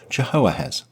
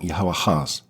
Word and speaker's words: Jehoahaz: elevated his 20-something-year-old son, Jehoahaz II. That's pronounced probably something like Jehoahaz, also called Shalom.